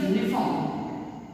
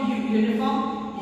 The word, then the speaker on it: uniform: is for example uniform none will say u is a vowel i know it is a bubble but what pronunciation we get from uniform you why are you is a consonant so here after